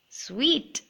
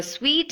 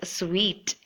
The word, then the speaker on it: suite: So a suite is a set of rooms together, and it shouldn't be pronounced as suit. Suit is something else, and it should be pronounced as sweet.